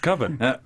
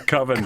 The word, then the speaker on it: Coven: over and over again i think it's pronounced coven that sounds like oven sounds like everything that's so that's the whole movie so good they're just mispronouncing coven the whole time it's